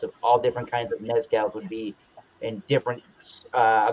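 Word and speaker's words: Mezcal: be reviewing the Luna Mescal or Mescal the Z is pronounced as a letter s in Mexico Luna mcal AR seasal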